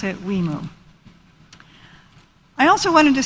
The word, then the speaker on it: WIMU: For anyone who is wondering, the abbreviation for our Washington, Idaho, Montana, and Utah program, or WIMU, is pronounced WIMU.